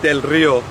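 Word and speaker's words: Del Río: border here in del rio texas uh better pronounced del rio um of the river in in english and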